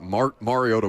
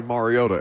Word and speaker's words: Mariota: and he'd be like, no, it's actually Mariota, and then immediately on the broadcast, Chris Collinsworth, Mariota.